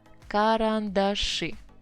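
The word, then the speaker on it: карандаши: stress attache and now a big surprise it would be karan dashi look where the stress is it's just in completely different place you just learn such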